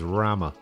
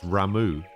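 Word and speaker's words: Ramuh: to you say that I used to pronounce it as Rama uh it's not that apparently apparently it's ramu yeah yeah really I can't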